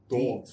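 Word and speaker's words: Dawgs: Spelled with a W. Dogs. D-A-W-G-S.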